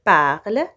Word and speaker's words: parlent: En revanche, les lettres E, N et T ne se prononcent pas quand il s'agit de la terminaison d'un verbe conjugué à la 3e personne du pluriel. Exemple, ils parlent, ils prennent.